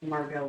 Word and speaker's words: Margot: that it's actually Feld yay yeah that's that's pronounced Margot by the way is it Margot m a r g o t Marco Okay